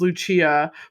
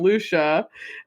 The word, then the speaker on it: Lucia: Even though she's like, I know my name's supposed to be pronounced Lucia, but my other sisters, like, what was it, like Marsha? Trisha, yeah, she's like, so I just figured CIA is a Sha, so I'm Lucia.